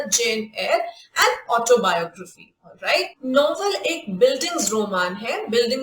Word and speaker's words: Eyre: written by सबसे पहले Jain air pronunciation है एल ए आई आर वाला जो एयर होता है उसी की तरह इसको प्रोनाउंस किया जाता है जिसमें कई बार